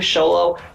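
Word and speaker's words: Xolo: like Jolo that is that he pronounce his name sholo um kid from kobai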